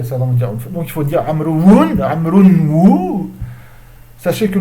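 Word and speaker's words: عمرو: Mais vous allez me dire, c'est pas ça, donc il faut dire Amroun, Amroun. Sachez que le waw dans Amroun, c'est un waw d'indication et qui ne se prononce en aucun cas.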